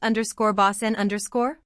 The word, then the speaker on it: bosun: Derived from the French _bossman_, or the English _bosun_, pronounced _bossen_.